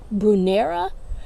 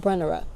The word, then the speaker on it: Brunnera: This is, I call it a Brunnera. I heard someone say it was a Brunnera, but I pronounce it Brunnera.